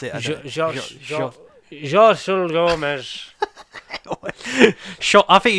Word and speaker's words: Xochitl: Xochitl Gomez. I think it's like Shotty Gomez. I think it's Shot.